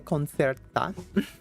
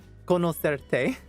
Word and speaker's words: conocerte: Encantada de concerta. Did I say it? Conocerte. Conocerte.